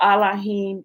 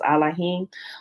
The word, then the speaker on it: Elohim: and also even although allahim is the proper pronunciation of elohim there is um a